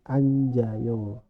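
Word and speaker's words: 앉아요: gap s-nya ikut kebaca lalu anjayo dibacanya yang n ini di depan an j-nya ikut ke sini anjayo bake bak e jadinya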